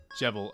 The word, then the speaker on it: Jevil: It's pronounced devil, but with a J. Devil. Jevil.